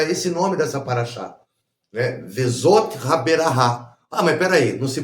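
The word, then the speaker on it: Vezot Haberakhah: Vezot Haberahá. Mas peraí, não se pronuncia et?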